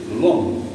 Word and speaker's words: l'homme: L'homme, L apostrophe, parce que on a ici le H muet. L'homme. Donc, comme c'est on entend O et on n'entend pas H.